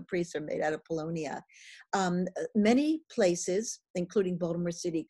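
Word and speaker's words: Paulownia: So Polonia is spelled P-A-U-L, like Paul, L-O-W-N-I-A, Polonia.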